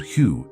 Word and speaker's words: Hue: When you chant Hue, pronounced like the word who but longer, you are vibrating the water in your cells into a coherent geometric pattern.